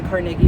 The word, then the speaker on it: Carnegie: this is carnegi and this is carnegi carnegi not Carnegie that's a New York pronunciation and don't even try